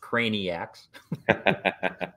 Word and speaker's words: Craniacs: good with customers manufacturers and his fellow craniacs pronounced craniacs his fellow reps admire chris's thoughtfulness and will